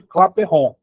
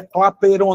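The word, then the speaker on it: Clapeyron: Essa aqui é a equação de Claperron. Não é clapeiron não, você claperron. Ele é francês. Respeita o rapaz. Você quer dizer um francês? Pronuncia o nome dele com sutaque inglês.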